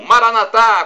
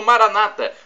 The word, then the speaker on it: Maranatha: bem e do aramaico Eu Clamo Maranatha como dizemos nós católicos ou Maranata como dizem nossos irmãos separados os protestantes e evangélicos não importa a pronúncia